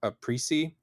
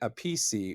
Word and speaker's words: Appice: of Fame drummer Carmine Appice. I messed that up. It's actually Carmine Appice or Appice, but it seems like Appice is the preferred pronunciation.